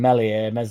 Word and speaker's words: Meslier: because that is basically, barring Meslier, Silent S, the same lineup that we had completely, even with players linked.